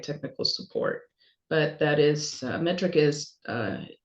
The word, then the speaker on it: METRC: So metric, and that's spelled METRC, metric without the I.